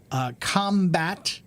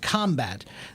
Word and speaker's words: combat: Combat, if I put the accent on the first syllable, combat, that's a noun and it means to fight, right? Fighting is combat, right? But if I say to combat, putting the strong syllable on the second syllable is strong, combat, that means it's a verb meaning to fight.